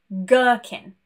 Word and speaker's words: gherkin: But if we continue with this example of GH, sometimes we do pronounce the G, but the H is silent. For example, ghost or gherkin.